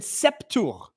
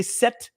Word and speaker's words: sept: You never pronounce the P. Okay, Christine. Right. Yeah. And you I mean I know you don't pronounce it but even like as a leazison or whatever you call whatever you call it with t you wouldn't say sept you'd say set right you just pronounce t